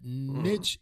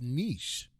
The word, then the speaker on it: niche: Yeah, but they came out and said that niche is not the right pronunciation of it. It's niche. Wow.